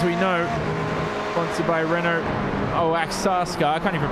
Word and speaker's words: Oaxaca: Anigo Roche, as we know, sponsored by Renault Oaxaca. I can't even pronounce that. I tried it all morning, Alvin. Oaxaca, that's it.